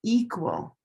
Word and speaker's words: equal: Green tea equal olive sock equality gray day equation. Black cat equilateral. So those four words are all related. Different stress location, different color.